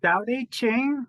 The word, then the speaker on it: Tao Te Ching: So I read most of your book, and which is practicing the way of, is it Tao Te Ching, or how do you say that correctly? The Tao Te Ching, practicing the way of the Tao Te Ching.